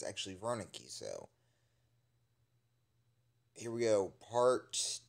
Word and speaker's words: Wernicke: But Markiplier pronounces Dr. Wernicke wrong, it's actually Wernicke, so.